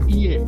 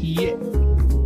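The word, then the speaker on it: いいえ: Iye artinya bukan. Watasimo artinya saya juga. Hati-hati dengan i ini di dalam bahasa Jepang i artinya bukan. Dan cara pengucapan ie bukan iye.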